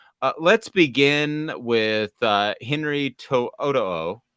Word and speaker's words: To'oto'o: begin with uh Henry Toyota did I pronounce that correctly I think it's Henry Toto is what I've been taught it is Henry toot uh inside joke I've